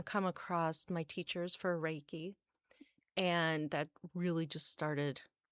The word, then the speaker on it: Reiki: Or Reiki? Yeah, they don't even say it right sometimes. I'm Yeah. like, it's Reiki. Yes.